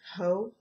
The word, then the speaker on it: Haux: to your eyes the next one is called ho H Au ux it sounds so weird when you pronounce it oh okay and here is that